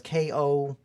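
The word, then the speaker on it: コスプレ: Like it's really hard to pronounce. Yeah. So it's Kosupure.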